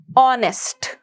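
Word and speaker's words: honest: letter silent है H similarly ऑनेस्ट वी डोंट hear the sound of हेच हम हेच को नहीं सुन पाते उस तरीके से यहां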